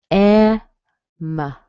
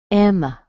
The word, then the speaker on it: Emma: Emma. Emma. That has a schwa on the end.